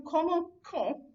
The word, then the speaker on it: commençons: So every form of that except that new has that soft C sound, but because of the O coming after the C, that suddenly makes that into a hard C, and it makes you